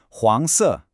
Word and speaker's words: 黄色: The pronunciation is 黄色. You got it, that rising second tone on the first character and then the falling fourth tone, 黄色.